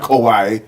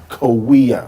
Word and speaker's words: Kauai: Okay, it's not Kauai. It's Kawia.